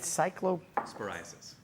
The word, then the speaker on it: Cyclosporiasis: Cyclo sporiasis. Cyclo Sporiasis. It's spor like spor. Cyclosporiasis.